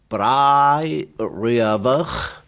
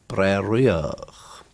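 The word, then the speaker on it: Braeriach: That could be pronounced in different places Brai Riavach or Breriach.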